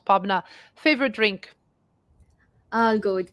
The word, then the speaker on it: Pabna: Pabna. That's how we pronounce Pabna.